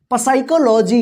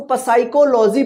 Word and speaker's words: psychology: यानी पी के बाद एस आता है, ठीक है ना, SY इस तरह से आता है, तो यहां पे जो है ना पी जो है साइलेंट रहता है, ठीक है ना। साइकोलॉजी मतलब होता है मनोविज्ञान, ठीक है ना। ये बहुत ज्यादा गलती होता है लिखने में और पढ़ने में भी, इसको पसाइकोलॉजी पढ़ते हैं, पसाइकोलॉजी नहीं होगा, साइकोलॉजी।